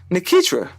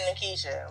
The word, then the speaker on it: Nikitra: Nikitra. Oh, okay. You said Nikisha.